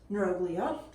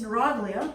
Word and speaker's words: neuroglia: and then we have neuroglia sometimes pronounced neuroglia sometimes the British say blah but either way it's neuroglia is a correct way to say it and basically these are